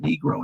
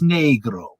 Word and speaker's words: negro: i can tell you it's not negro in spanish it's negro yeah all right it means black yeah negro not negro okay